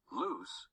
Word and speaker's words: Luz: Luz Sees the Light by Claudia Davila. Luz, pronounced Luce, and her friends enjoy listening to music and frequent trips to the mall.